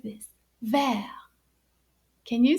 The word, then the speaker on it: vert: say it like this ver can you say that ver now notice that the t is silent ver now listen carefully